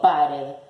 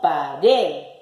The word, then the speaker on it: pared: Vamos a acentuar la primera sílaba. Pared. No, yo no digo pared, digo pared. Entonces, es una palabra aguda.